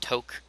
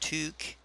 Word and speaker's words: toque: a lot by canadians apparently that is not pronounced toke it is pronounced tuk and i still get it wrong every time because in french or in french english i guess you could say we pronounce it it would be pronounced like taupe being t-o-q-u-e anyway long story short it is pronounced took now this is a